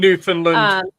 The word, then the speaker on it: Newfoundland: trip to um New New Foundland. I don't know if that's how you say it. New Funland or Newfoundland. New Finland.